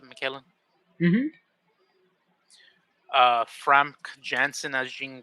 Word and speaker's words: McKellen: wolverine slash logan um ian mckellen as magneto they pronounce it michaelan uh frank jensen as